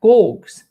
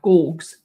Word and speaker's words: Gorgs: Hard G's. So it's a hard G, not a G, but a G. Gorgs. Is it that right, Matt? Am I saying it right? Gorgs.